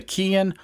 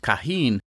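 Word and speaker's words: Keihin: little bit different so this is a Kian or sometimes pronounced kahin cvk carburetor now a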